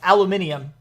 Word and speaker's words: aluminium: Or if you're in somewhere else, it's aluminium. Both are technically the proper pronunciation, depending on where you are in the world.